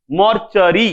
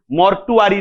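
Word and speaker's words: mortuary: मरिबंड गोटे भलो word आसीबा मर्चरी बढ़िया उच्चारण भले सुनियो कान रे मर्चरी ठीक अछि मर्टुआरी नुहे ठीक अछि मर्टुआरी नुहे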